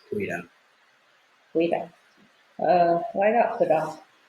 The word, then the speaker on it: goeiedag: Typically we'll say goeiedag.